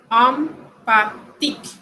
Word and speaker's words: empathique: Con el IM, sucede lo mismo, solo que con M. Empathique, empathique. Impur, impur.